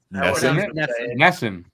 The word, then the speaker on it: NESN: really good episode did you just say NESN Ness I was G okay I'm Canan Canadian I